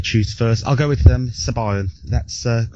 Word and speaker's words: Sabayon: Sabayan. Sabayan, as in by.